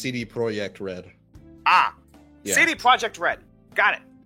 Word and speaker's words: CD Projekt Red: decided by the way I always just pronounced to see the CD Projekt wreck rats why no it's I could because because the project has like the Katy at the end and I just it's pronounced CD Projekt RED ah any project read